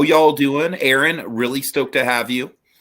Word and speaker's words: Erin: It's pronounced Terran, but without the ta. It's Erin.